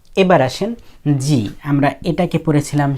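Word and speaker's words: ぢ: যেটা হলো এটা ছিল এরকম চি এর উপরে তেন তেন দিলে হয়ে গেল জি উচ্চারণটা হবে জি তারপরে যু এটা ছিল সু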